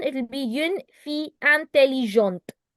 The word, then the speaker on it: intelligente: For feminine, it will be une fille intelligente. Do you hear the te in the end?